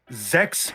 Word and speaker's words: Zex: letters written on it, "Zex rhymes with sex, Oh, what?